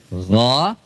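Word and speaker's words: غير: bukan alai alai enggak termasuk ghairi juga gho bukan Giri gir perhatikan Giri itu GYA GYA dipanjangkan g i kan harusnya apa G giril giril maguaiim nah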